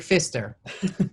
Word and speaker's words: Pfister: It's actually Pfister. Pfister? With a P. Yeah. It's an odd one, but in French it's actually all right.